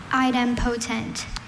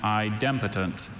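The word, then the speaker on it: idempotent: Item potent. Item potent. Item potent. Are there any alternate pronunciations? I have item potent and idotent.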